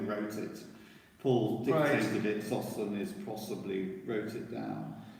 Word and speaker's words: Sosthenes: Sosthenes, you said it Sosthenes, correctly.